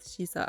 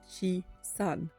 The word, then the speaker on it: shisa: numbers having different pronunciations, 4 can be pronounced Shi and 3 can be pronounced San. Together, 4 and 3 become Shi-san, which is pronounced similarly to Shisa.